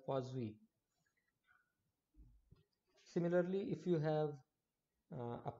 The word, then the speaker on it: Poiseuille: Now this is often mispronounced, this term. Some people call it Poiseuille flow, or may call it something else. This is actually a French name. This is called Poiseuille.